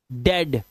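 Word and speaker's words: dead: कुछ वर्ड्स में इ ए का उच्चारण ए ही होता है। जैसे डेड अब इसको अब इसको आप वो नहीं पढ़ेंगे जो अभी पढ़ रहे थे आप। ठीक है? डेड हेड health health haven jealous jealous ब्रेड ब्रेड ए की आवाज।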